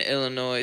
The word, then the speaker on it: Illinois: maybe some light rain in Missouri and and Illinois Southern Illinois it's Illinois not Illinois well they